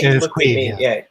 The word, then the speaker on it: Caimh: Okay, so that is how that gets pronounced, right? It is Queeve, yeah, Queeve.